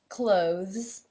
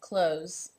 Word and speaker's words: clothes: becomes the clothes so the th is now voiced however it also changes the vowel sound the vowel is now